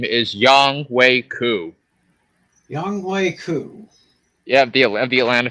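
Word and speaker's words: Younghoe Koo: a little bit crazy, but I'm going with Young-Hoo Koo. Tim? I guess I'd have to agree. Go with Young-Ho Koo. Yeah. And the way you pronounce his name is Young-Wei Koo.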